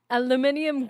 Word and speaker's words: aluminium: to use it's uh aluminium garage that's the proper way to say it why would you say